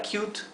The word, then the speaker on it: cute: es una sola sílaba esta palabra es monosilábica en inglés en español Aquí dividirías esta palabra en dos sílabas verdad diríamos q t pero en inglés Esto es un sonido solo Entonces esto en inglés es una sola sílaba y la sílaba es cute la palabra cute monosilábica